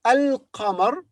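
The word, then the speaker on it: القمر: lamb here is silent so in the word al qamar the lamb is pronounced but in the word ashems the lamb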